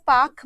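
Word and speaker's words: Palk: पाक की खाड़ी देखो पाक में एल लिखा हुआ है पी ए एल के बट ये एल साइलेंट है तो इसीलिए इसको वैसे पाक बोला जाना चाहिए बट अगर पालक लिखा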